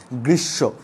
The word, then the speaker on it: গ্রীষ্ম: তো বন্ধুরা যে এখানে গ্রীষ্ম, এখানে কি ময়ের উচ্চারণ হবে? নিয়ম অনুযায়ী তো হবে না, তাহলে এই উচ্চারণটা আমরা সচরাচর ভুল করে থাকি। তাহলে সঠিক উচ্চারণটা কী হবে? গ্রীষ্ম।